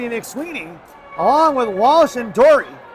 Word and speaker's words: Dory: to mention that Dory, I was calling her Door, and Coach Mandarino so kindly told me that I was mispronouncing her name.